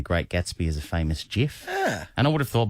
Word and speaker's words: GIF: thought by the way one of the best tributes would him would would be for actually to pronounce it gif that's what he wanted and everyone pronounce it a lot of people pronounce it gif wow I want just a tribute to the man who invented it would be to actually call it by its real name but call me a